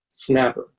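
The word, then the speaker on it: SNAPR: the S and a P our departure is pronounced snapper the starts on the board are locations of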